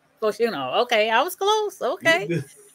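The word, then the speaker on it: Fashanu: You want to pronounce that one? Oh, my God. Omuwata Fashina? Fashuno.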